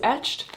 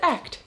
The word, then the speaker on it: Echt: And if you're wondering, why is she saying ECHT? What is that? I thought it was etched. It's actually pronounced ECHT.